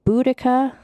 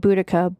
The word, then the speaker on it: Boudica: I'm going to pronounce her name Boudica because that is how I think it's said. Although some people pronounce it Boudica.